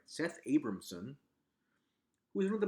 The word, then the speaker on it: Seth Abramson: Just this past Friday, Seth Abramson, yes, I'm pronouncing that right, Seth Abramson, who is one of the most notoriously crazy